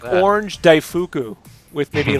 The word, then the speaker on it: daifuku: They're like daifu. What? Daifuku. You ever get the ones